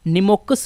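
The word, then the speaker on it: pneumococcus: निमोकस होता है। बैक्टीरिया। देखिए पी एन यू एम ओ सी ओ सी सी यू एस। दोस्तों यहां पर जो पी है वो क्या है? वो साइलेंट है।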